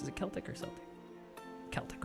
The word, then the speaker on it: Celtic: How is it pronounced? Is it Celtic or Celtic? Celtic, right?